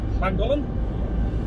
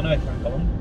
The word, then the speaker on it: Llangollen: Llangollen? No, Llangollen. It was like the pronunciation of some Welsh words. Like double L, N, like Llangollen. I'm fairly sure that's how you spell it, pronounce it.